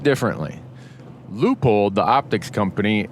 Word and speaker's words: Leupold: Leupold, the optics company, is like L-U, like a long U, Leupold.